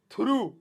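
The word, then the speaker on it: through: थ्रू, नहीं नहीं थूका होगा नहीं है भैया, ध्यान सुनो प्रोनाउंसिएशन, थ्रू है ना, थ्रू हद हो गई, इसकी प्रोनाउंसिएशन अजीब है, थ्रू।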